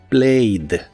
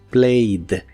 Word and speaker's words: played: Es muy similar a la forma del presente, pero en el pasado se le agrega la terminación ED, aunque solo se pronuncia la D, así que es played, played.